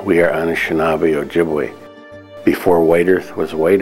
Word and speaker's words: Ojibwe: the government calls us chip was a mispronunciation of Ojibwe you know jibba I'm